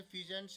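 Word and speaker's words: pheasant: और बर्ड्स के अंदर जैसे फिजेंट्स है और मोनल्स है, ये पिक्चर भी दिखा रखी है, मोनल्स ये है, फिजेंट्स ये है, ये मिलते हैं। इसकी जो प्रोनाउंसिएशन है वो फेजेंट है, तीतर।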